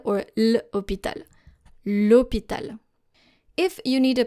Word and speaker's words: l'hôpital: For example, you don't say le hôpital because hôpital is starting with a silent H. You say l'hôpital. You cut le, you remove the I, you add an apostrophe and then directly link it to hôpital. L'hôpital, and not le hôpital or l'hôpital.